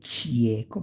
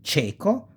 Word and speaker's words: cieco: say cielo, sky, cieco, again, you don't say cieco, but you say cieco, blind, cerimonia, cognate, ceremony, always capitalize on cognates.